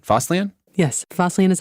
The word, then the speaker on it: Fosslien: Yes, Fosslien is how you say it.